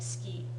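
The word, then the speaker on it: 好き: SK SK yeah SK the pronunciation sounds more like ski SK D skut yeah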